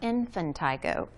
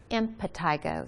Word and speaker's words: impetigo: and scratching then they get impetigo not infantigo impetigo so it's spelled i-m-p-e-t-i-g-o impetigo